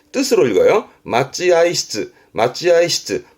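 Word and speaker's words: 待合室: 그래서 마찌아이시즈 뜻으로 읽어요. 맞지아이시즈. 맞지아이시즈 발음도 중요합니다.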